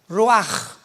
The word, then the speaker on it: ruach: hebreo es como suena ruach r Raúl u a c h pero la ch en el hebreo se pronuncia como J raj es la palabra para